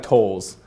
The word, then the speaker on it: Thole: But actually when my grandma married my grandpa, he pronounces it Thole to this day, but she didn't like that. She was like, "Let's TH, so it's gonna be the sound."